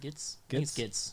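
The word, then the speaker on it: Gittes: That how do you pronounce his last name? Gitz.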